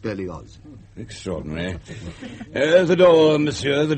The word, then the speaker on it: Berlioz: I'm sorry, but the name is Berlioz. German in origin. The family has lived in Savoy for generations, of course, but it is pronounced Berlioz.